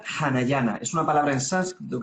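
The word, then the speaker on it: Anahyna: En realidad se pronuncia Hanayana, es una palabra en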